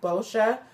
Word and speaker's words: Boscia: It's pronounced Boscia.